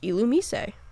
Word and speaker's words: Illumise: You might have gathered that the illum part of the name correlates to illuminate, but actually, Illumise kept its Japanese name, so according to the Japanese, it should be pronounced Illumise.